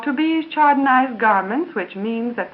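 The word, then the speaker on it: Tubize: are the undies meant for you they're called to bees Chaniz garments which means that the fabric is a tobes and to bees is spelled Tu b i z e rayon pretested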